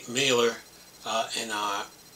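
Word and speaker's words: Mahler: now fully independent sayon mailor uh yeah the H is silent is m l e r anyway says we believe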